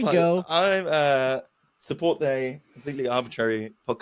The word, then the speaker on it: Arbortrary: I'm going to get a real English pronunciation of it. You ready? Completely Arbortrary.